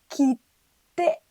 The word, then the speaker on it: 切手: でも、ここのつはちっちゃいです。小さいです。なので、発音は切手になります。